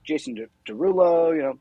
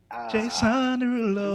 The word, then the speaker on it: Jason Derulo: And I kind of was hearing like Jason Derulo, Terry Crews. Like I was hearing No, other that's artists. not how you say his name. Jason Derulo.